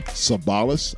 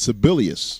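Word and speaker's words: Sebelius: You know, during the last set, you said Kathleen Sabalas. I don't think that's the correct pronunciation of her name there, Cool Breeze. Well, what is it? All right, I think it's Sibelius.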